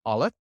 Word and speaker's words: aleph: I want you to pay attention to that very first movement in your throat and the sound notice how that's almost silent the olive is silent it's actually just a stop you would just stop in your throat kind of like oh oh it's that stop between that word that's the olive so it it's actually